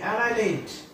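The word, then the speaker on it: annihilate: এন আই এইচ আই এল এ টি ই এনাইলেট এনাইলেশন এনাইলেট মানে হচ্ছে ধ্বংস করা সম্পূর্ণ ধ্বংস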